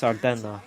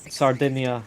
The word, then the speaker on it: Sardinia: I think it's pronounced Sardenna in Italian. Yes. Sardinia in English.